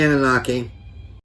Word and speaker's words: Anunnaki: how do you pronounce it, Doctor? You can say Anunnaki.